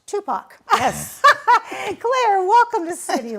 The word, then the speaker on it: TUPAC: director of Tacoma Urban Performing Arts Center pronounced Tupac yes Claire welcome to